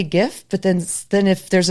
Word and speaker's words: GIF: Well, graphic is a soft G. So, I'm going with GIF. Mhm. GIF.